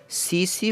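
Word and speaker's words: tsetse: और इस ट्रिपेनोसोमा को फैलाने का काम कौन करता है, सीसी फ्लाई। सीसी फ्लाई इसका नाम है, इसका साइलेंट है TSC साइलेंट वर्ड टी है इसमें पहला।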